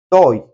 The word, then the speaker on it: estoy: So you could say now when we say estoy, we don't say it like that. If we make a reduction, we say toy toy. Okay, we we skip the s and we just say toy.